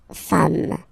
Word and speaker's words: femmes: singular form, and then you just add this s at the end, and as we said, you don't pronounce it, so you get des femmes, okay?